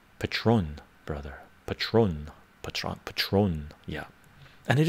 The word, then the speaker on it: Patrón: doing what's up what's up no no it's pronounced patron brother patrón patrón patrón yeah and it is good to